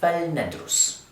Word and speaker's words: فَلْنَدرسْ: choose to do that, then the 'laam' takes 'sukuun' instead of the 'kasra' that we had earlier. So we pronounce it فَلْنَدرسْ 'So let's study.'